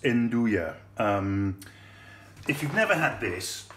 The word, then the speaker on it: Nduja: That's how it's pronounced, Nduja.